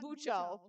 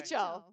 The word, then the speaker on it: Bicho: Bicho with an I, not Bucho. Oh, okay. Bicho.